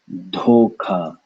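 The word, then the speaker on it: धोखा: First syllable. Dho, dho, dho, dho. Second syllable. Ka. Both have air. Dhoka, dhoka, dhoka, dhoka, dhoka, dhoka, dhoka, dhoka, dhoka, dhoka, dhoka, dhoka, dhoka, dhoka, dhoka, dhoka, dhoka.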